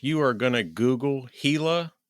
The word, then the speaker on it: Gila: going to Google Hila, it's not spelled with a H. It's spelled with a G. That's true. Be careful. What is it? G A I A or something like that. No, it's G I L A. Gilla. G I L A. It's spelled like gilla.